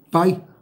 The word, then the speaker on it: pie: Pues es que es el pie. Sí, así se pone, así se pone. Es que así se escribe. Pero ya uno le dice pay. Uh-huh. Pero sabe bien rico el pay de calabaza. Es que así se pronuncia en Estados Unidos.